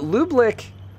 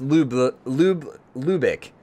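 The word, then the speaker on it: Lübeck: Oh, so just Lubik. So no lick. No extra U.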